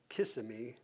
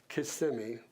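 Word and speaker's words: Kissimmee: Solivida is in CMI, and that's how you say it. Not Kimmy, Casemi.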